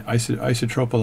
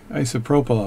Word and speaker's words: isopropyl: with some alcohol um is isotropy alcohol and isopropyl alcohol got a say it righty isopropyl alcohol and then let it